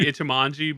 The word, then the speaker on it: Ichimonji: who also made Wado Ichimoji. Mm-hmm. Am I pronouncing that right? You did well enough for me, brother. I think it's like Ichimonji, but yeah.